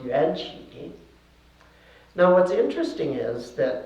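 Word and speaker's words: 缘起: In Mandarin Chinese it would be pronounced yuanqi.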